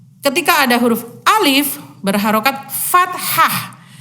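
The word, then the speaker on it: فتحة: ada huruf alif berharokat fathah fat Hah Jadi bukan patah kalau patah nanti bisa patah hati patah semangat dilakukan itu ya tapi fat Hah namanya ya cara membacanya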